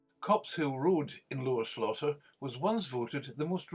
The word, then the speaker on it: Slaughter: a miniature village lora slaughter gets its name from the old english word meaning wetland or muddy place pronounced slother situated away from a